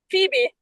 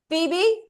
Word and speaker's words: Phoebe: Pronounce it for me. It was Phoebe. Phoebe.